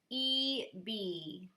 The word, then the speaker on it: EBY: y which stands by empowered by you it's pronounced e b this is from renee i'm hoping that i'm